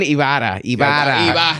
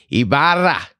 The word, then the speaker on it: Ibarra: Ibarra. Am I getting closer? Little, but keep going. Say Ibarra. Ibarra. You just gotta learn how to roll your R's. How do you roll your R's, man? You just put your tongue on the roof of your mouth and just like blow out like.